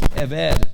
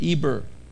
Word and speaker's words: Eber: The word is Eved, pronounced Eved or Eber. Eber in Espanol, Eved in Espanol.